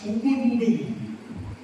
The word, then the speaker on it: Ubuntu: In the ancient African language, there is a word that is pronounced as Ubuntu.